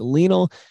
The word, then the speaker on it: Lionel: I want to say Lionel, but it's not like Lionel Hutz, attorney at law. It's Lionel Messi.